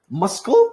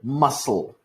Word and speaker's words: muscle: longer or for example the word muscle we do not say muscul we say muscle two s's it's like a longer s basically so that's another like